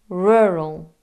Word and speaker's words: rural: This is not a word that native English speakers struggle to pronounce, but the English R is a strange beast to much of the rest of the world. In English, we use a still, floating tongue to pronounce the R. It's slightly curled and slightly back.